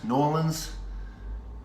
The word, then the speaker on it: New Orleans: Kelly is from New Orleans. Nolans is one syllable.